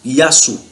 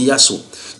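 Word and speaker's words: يسوع: Maintenant, les musulmans sont convaincus, les musulmans arabes prononcent ce Jésus-là par Yassou. Donc en arabe, normalement c'est Yassou.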